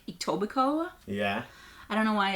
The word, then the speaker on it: Etobicoke: anybody why you don't why you don't pronounce that last K but you know I